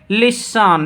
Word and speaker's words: listen: तो क्या बोलेंगे, लिसन, लिसन यानी सुनना।